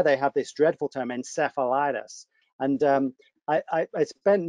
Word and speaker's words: encephalitis: word and of course i go back to the greek root and you know it's in kefalon it's not cephalon so i'm gonna i must